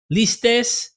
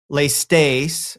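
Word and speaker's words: ληστής: Listis. But look, if scholars would say lestes or lestes, I say listis because it's listis in modern Greek.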